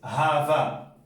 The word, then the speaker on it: hafa: ejemplo, AFA, por ejemplo, HAFA es HAVA, va, se pronuncia como una va.